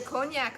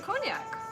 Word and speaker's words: cognac: Why do you pronounce the C at the end of cognac? Because it's a name. Why wouldn't you? Because you usually don't pronounce the last letter in French words.